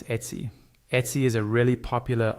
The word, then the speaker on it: Etsy: This sounds just like the word pet, but without the letter P at the start.